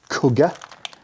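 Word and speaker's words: Kuga: And Cougar spelt C-O-U-G-A-R, because at least in the UK we also have a Ford Cougar, K-U-G-A, which I think everybody pronounces Cougar.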